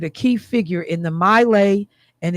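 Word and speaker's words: My Lai: "Well, you remember, Michelle, the whole, um, uh, Milelay massacre and that the man that was involved in that was here in Wisconsin."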